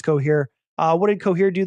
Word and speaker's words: Cohere: them uh before uh rhymes with cooh here that's because it is cooh here uh what did coher